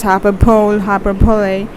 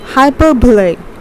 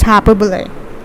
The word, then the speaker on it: hyperbole: Okay, most of the times people are saying it as hyperbole. No, it's hyperbole. Okay, let me write the pronunciation here. It's hyperbole.